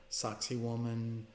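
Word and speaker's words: Sacsayhuamán: Peru with two priests go saxy woman Machu Picchu yes I did say sock si woman it is spelled with an EI s ax I don't know any time the locals talk of it sounds like sexy woman and who doesn't want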